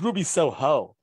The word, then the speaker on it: Ruby Soho: So people calling her Ruby, they're putting the wrong emphasis on the wrong syllable. Kills me. She's Ruby Soho. Like, that's the Rancid song.